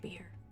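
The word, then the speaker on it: bier: by the door uh it's pronounced beer beer thank you uh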